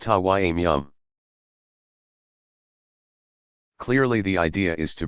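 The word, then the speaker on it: tayammum: which case it is called tammim pronounced Hawaii meow clearly the idea is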